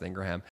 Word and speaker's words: Ingraham: This interview, by the way, is how we know her last name is pronounced Ingraham.